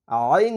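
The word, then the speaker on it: عين: ইউ হামজার সঙ্গে এবার আইনের উচ্চারণ হামজা হচ্ছে হলকের শুরু অর্থাৎ গলার শুরু থেকে উচ্চারণ হবে আর আইন হচ্ছে গলার মাঝখান থেকে চাপ দিয়ে উচ্চারণ করতে হবে আইন তাহলে হামজা জবর আ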